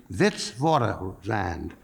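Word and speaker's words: Witwatersrand: from the University of Vitz vand and I just want to tell you even though it's spelled with a W it's pronounced with a V and I was very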